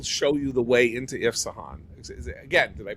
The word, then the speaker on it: Isfahan: I will show you the way into Isfahan. Again, did I pronounce it right this time? Isfahan.